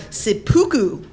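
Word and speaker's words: seppuku: a Corruption of the real term harakiri or sipuku by the way I learned the proper pronunciations for both of those on YouTube imagine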